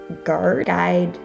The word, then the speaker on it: guide: searching next up is the silent u and that is when it comes after a g as in go and before a vowel for example guide and guest and last but not